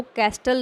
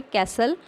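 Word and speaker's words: castle: invite करता है देखिए इस वर्ड को कैस्टल नहीं पढ़ना है या कास्टल कई बच्चे पढ़ते हैं इसको इसको बोलना है आपने कैसल इस मिट्टी जो है वह साइलेंट है सौदा ओल्ड मैन वेंट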